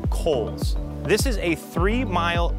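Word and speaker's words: Cowles: of water number four cows mountain or correctly pronounced coals this is a three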